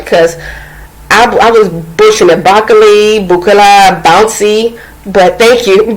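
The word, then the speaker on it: bouclé: So, I think I have been pronouncing it right because I was butchering it. Boucle, bouncy. But thank you, Boucle.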